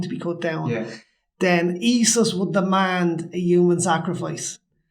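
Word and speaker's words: Esus: Spell that. Isis, E-S-U-S.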